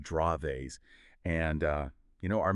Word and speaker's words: Dravet: just for everyone out there remember DVA is pronounced draves and uh you know our main source here